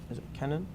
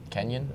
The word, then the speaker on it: Kenyon: Hope College and she Kenan I think it is Kenan I think is how you pronounce it her it's ke and y om Kenyon Kenyon that would that would